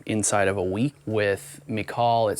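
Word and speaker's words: Michal: with the other distributor his name is I think it's pronounced McCall it's m-i-c-h-a-l I think he's up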